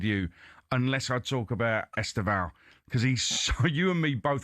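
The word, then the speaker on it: Estêvão: Well, first of all, you pronounced him wrong, didn't you, Aid? It's Esteval. Esteval. as we well know.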